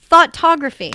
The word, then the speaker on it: Thoughtography: Like F-A? No. Thought. Thought. Like a thought. Like thought. Thoughtography.